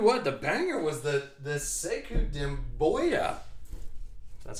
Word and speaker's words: Sekou Doumbouya: All right, so I'm telling you what, the banger was the Sekou Doumbouya. That's how you pronounce it.